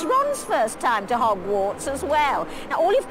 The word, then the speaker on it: Hogwarts: run if you're nervous notice the way she says hogwarts this is using the very british sound ah hog hogwarts if it was american english it would be hog but here it's hog hogwarts okay she also says